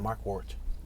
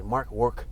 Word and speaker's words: Markwardt: It's spelled MarkwardT. I guess the D silent, Mark Wart. But part of me wants to say Mark Work did.